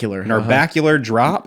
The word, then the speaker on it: Narbacular Drop: They worked on a game called Narbacular I've heard it's pronounced Narbacular Drop.